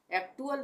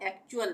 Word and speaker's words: actual: इसी तरह से यहाँ पे भी UAL आया टी के बाद, तो यहाँ पे इसको हम पढ़ेंगे एक्चुअल, एक्टुअल नहीं पढ़ेंगे, इसको हम एक्चुअल पढ़ेंगे।